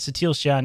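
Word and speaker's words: Satele Shan: yeah is thec satal oh sa that's how you say it sa Shan yeah it's bassel's like granddaughter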